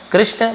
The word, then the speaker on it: कृष्ण: says Parashar name him कृष्णा तो इसे हम ऐसे बोलेंगे कृष्ण है ना और यहां